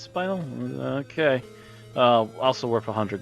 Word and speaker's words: spinel: i think it's pronounced spinal it is pronounced spinal okay uh also worth